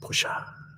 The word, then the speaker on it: Porsche: select, boom, and then That was a Porsche, ladies and gentlemen. I believe it's pronounced Pusha.